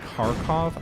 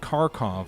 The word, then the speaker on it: Kharkov: But Kharkov, I believe, is how you pronounce the Russian city.